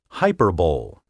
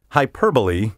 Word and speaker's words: hyperbole: but who has not bothered to check its pronunciation in a dictionary say hyper bowl any joe blow sports fan will tell you